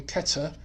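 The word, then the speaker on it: Keter: cabala and um yeah there's no th in Hebrew so it's um Keta um that's a to in the middle so it's C in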